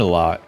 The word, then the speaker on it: Aleo: actually watch anybody from that team speak about Alo for the last uh I've gone back like